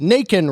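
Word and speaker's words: Nacon: On November 24th, NATIAN rhymes with bacon, and they must have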